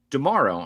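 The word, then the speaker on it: D'Amaro: Um yes, Josh Dearo. I have to keep reminding myself that's how you say it, like Tomorrowland.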